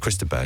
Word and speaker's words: Chris de Burgh: Chris de Burgh. Chris de Burgh, right? Or Chris de Burgh, Or Chris of the because you Burgh. don't pronounce the G. That's it, Chris de Burgh.